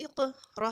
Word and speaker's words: اقرأ: हमज़ा क़ाफ ज़ेर इक़ रा हमज़ा बर रा इक़रा. जब भी हमज़ा स्कूल में आएगी तो वहाँ पे झटके से पढ़ेंगे और क़ाफ को हम मोटा करेंगे और यहाँ पे क़लक़ला भी होगा.